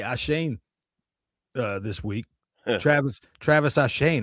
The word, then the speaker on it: Etienne: No, I'm talking about Travis, what you would call Travis Etienne. Right? Oh. Yeah. He said today, he said like earlier this week, I got to get this straight. My name is Ashane.